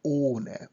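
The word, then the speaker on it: ohne: use in German sentence we pronounce it like ona we don't pronounce age age just make all longer and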